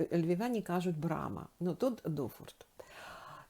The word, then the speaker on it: дуфорт: раз як Це ваша брама називається мені кажуть дуфорт ну зараз дуже легко так я думаю вночі